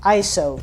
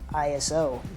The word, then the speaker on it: ISO: Tony and Chelsea Northrup, they're the ones that it's pronounced ISO, not ISO.